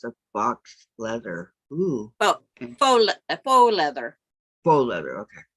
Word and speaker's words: faux: Oh, faux leather. Faux leather. Okay. Yeah, you're pronounced as French. Faux leather. Okay. That's Terry, French for fake.